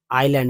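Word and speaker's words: island: ठीक है dream dream the आइलैंड इसमें एस जो है साइलेंट है आइलैंड सीम वेरी फार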